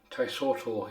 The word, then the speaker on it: Taisoto: There we have it, the Taisito. Taisoto even.